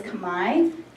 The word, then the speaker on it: Khmer: in my cell today the language of Cambodia is called Khmer or the way they pronounce it is combined khm ER and it is